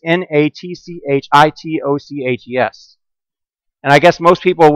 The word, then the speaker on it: Natchitoches: About the fifth time, I said, you know, if you'd ever been there, you realize the town is actually pronounced Natchitoches.